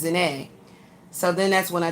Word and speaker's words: Zahnae: They kept saying zine, which is like the word gene. G is in Gary, ENE. They kept saying zine, and it's not, it's ZAHNAE.